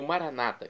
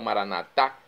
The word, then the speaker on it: Maranata: E agora eu clamo Maranatá, como dizemos nós católicos, com a tônica na última sílaba, ou maranata, como dizem nossos irmãos separados, os evangélicos ou protestantes, com a tônica na penúltima sílaba.